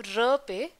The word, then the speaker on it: wrap: सो pronunciation की बात करें तो रैप में डब्ल्यू साइलेंट है तो र पे स्ट्रेस चला जाएगा।